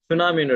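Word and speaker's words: tsunami: சுனாமின்னு எடுத்தீங்களா டீன்றது silent letter.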